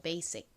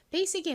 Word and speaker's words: basic: 그런데 원어 발음으로는 여기서 이 S가 지읒이 아니라 시읒에 가깝게 발음이 됩니다. 그래서 basic이라고 발음돼요. basic. 좀 세게 발음돼서 거의 쌍시읒에 가깝게 들려요. basic의 의미가 뭔가요?